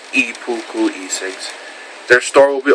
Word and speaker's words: Ippuku: Oh, and another thing, I got a update on Ipuku e-cigs, pronounced Ipuku e-cigs.